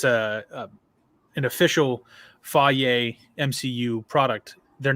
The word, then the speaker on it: Feige: know that it because it's a an official fayette mcu product they're not gonna put crap on the screen they don't do that i can't stand you with your pronunciation of kind of fight feige sorry i'll correct it this one time